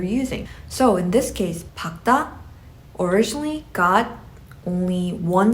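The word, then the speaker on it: 밝다: though this has a double final consonant is pakta i only pronounce the latter which is kyok in this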